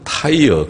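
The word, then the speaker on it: Tyre: 북쪽의 시돈 또 2로 영어로는 타이어 이렇게 발음 하더군요 타이어 우리 자동차 타이어 랑 똑같은 단어입니다 타일 u 2로 라고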